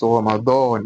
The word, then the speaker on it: Ramadan: The correct pronunciation while pronouncing is Ramadan, not Ramadan. Ramadan, dawn. That is why the D in English alphabet it can never be equivalent to what? To do.